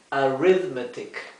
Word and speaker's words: arithmetic: Arithmetic. La TH aquí se pronuncia D.